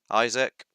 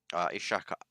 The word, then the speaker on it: Ishaq: His profile reads Isaac, or actually Ishaq Ahmed Mahmoud Ahmed Mohammed. Might have got the pronunciation slightly better there, purely because I had